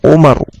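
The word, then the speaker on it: عمر: Kalau andaikan tidak ada harakatnya dan setelah ro itu ada wau, maka cara bacanya amrun. Tapi kalau tidak ada wau, maka cara bacanya Umar. Ya, cara bacanya Umar. Dan di sini ada wunya. Maka ini amr.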